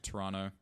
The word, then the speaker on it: Toronto: toronto would be good do not ever pronounce the second t toronto that's evidently that's how